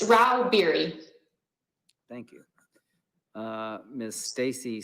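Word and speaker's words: Rauh-Bieri: how do you say your name ma'am it's rao beary thank you uh miss stacy stags literal lobbyist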